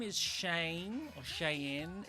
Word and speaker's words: Cheyne: Her name is Cheyne, or Cheyenne. It's like Shane, but it's spelled with a CH.